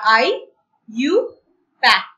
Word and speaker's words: IUPAC: और A और C, इसको हम प्रोनाउंस क्या करते हैं? IUPAC। मतलब इसको जब हम पढ़ते हैं क्या बोलते हैं? E वाला IUPAC।